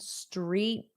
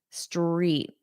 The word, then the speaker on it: street: I couldn't find street barking. So, we don't pronounce the T, the D, or the T. Street. Street. You want to hear the strong R in street.